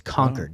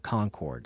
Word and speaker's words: Concord: it Concord New Hampshire Concord New Hampshire that's conquered not Concord it's not a grape really because it's spelled like Concord yeah that's like that's a